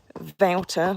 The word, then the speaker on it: Wouter: Wouter was spelt with a W, but you say it as a V.